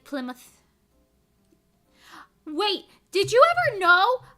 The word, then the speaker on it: Plymouth: next next question like play mouth in England is pronounced Plymouth Plymouth well we say mouth like MTH a lot of times and certain like Road